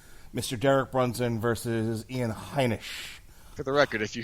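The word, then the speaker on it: Heinisch: All right, we are almost set to begin here with Derek Brunson and Ian, how are you pronouncing it? Heineken? Hynek.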